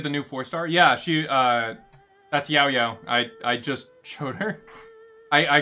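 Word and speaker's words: Yaoyao: She's pretty good for Yao Yao. Y-A-O, Yao Yao. But yeah, that's how you pronounce it, I suppose.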